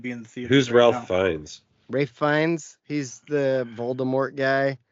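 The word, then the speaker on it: Ralph Fiennes: Dave said it oh that's how his name is spelled yes that is how his name is it's spelled Ralph find so I always say Ralph but yeah um it's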